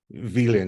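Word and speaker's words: Willen: It's the word for will, W-I-L-L-E-N, but it's pronounced villain. It sounds like villain.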